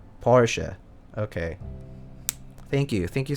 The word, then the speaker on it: Porsche: for a german lesson you have to pronounce the e in part okay porsche okay thank you thank